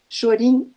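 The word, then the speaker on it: 少林: técnicas culinárias do final chorinho é a pronúncia japonesa de Shaolin que é o templo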